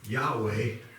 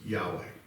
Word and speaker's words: Yahweh: The Hebrews would pronounce it Yahweh, but it looks like like that. Best we can figure out what that should sound like is Yahweh.